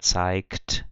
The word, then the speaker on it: zeigt: Então eu tenho ich zeige, du zeigst, com som de K, er zeigt, com som de K por causa do T, wir zeigen, mas nenhum dessas pronúncias tem o som do CH.